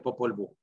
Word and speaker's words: Popol Vuh: Bueno, debería ser con W, pero Popol Vuh, pero aquí se pronuncia el Popol Vuh.